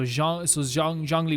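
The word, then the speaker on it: Zhongli: ZH is pronounced with a soft J, so Zhangli, which we kind of knew this.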